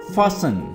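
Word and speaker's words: fasten: next move करते हैं फसन फसन यहां पर भी टी साइलेंट है आपने इस वर्ड को पढ़ना है फसन फसन का मतलब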